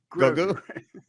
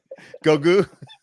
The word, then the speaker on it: Goku: seem like that is we're saying we're mispronouncing that what is it there's too many r's there's too many yeah oh give me ours it's gogu goku oh gotcha okay it